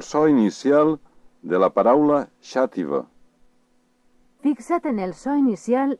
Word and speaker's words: Xàtiva: El so inicial de la paraula xàtiva. Fixa't en el so inicial d'aquesta paraula. Xàtiva. Per a reproduir el so de la paraula xàtiva, cal que facis el soroll que emets quan vols demanar silenci.